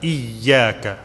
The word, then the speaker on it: إياك: إياك نعبد وإياك نستعين. Little bit stress on the ya because it has a shadda. إياك.